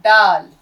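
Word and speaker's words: ڈال: फिर इस तरीके से डाल, आपका ये है डाल, ड, हिंदी का ड।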